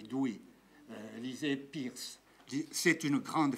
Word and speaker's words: Dewey: Ça s'écrit Dewey, on dit Dewey.